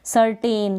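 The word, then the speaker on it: certain: सर्टेन, तो इसको पढ़ेंगे सर्टन, क्या पढ़ेंगे, सर्टन।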